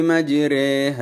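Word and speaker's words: مجريها: ഇമാലത്തുൽ കുബ്റ എന്നറിയപ്പെടുന്നത് അതായത് ഇവിടെ റ എന്നതിന്റെയും രി എന്നതിന്റെയും ഇടയിലായി രേ എന്ന ശബ്ദം നൽകി ബിസ്മില്ലാഹി മജ്രീഹ വർഹ ബിസ്മില്ലാഹി മജ്രേഹർഹ എന്നാണ് പാരായണം ചെയ്യേണ്ടത് ഇവിടെ കസറുള്ള റയിനെ പോലെ ശബ്ദം നേർപ്പിച്ച് രേ എന്നാണ് ഉച്ചരിക്കേണ്ടത് റേ എന്ന് കനപ്പിച്ച് ഉച്ചരിക്കുവാൻ പാടില്ല ഒരു അറബ് ഗോത്രത്തിന്റെ ഉച്ചാരണം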